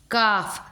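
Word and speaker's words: calf: काफ, CA का pronunciation क्या है?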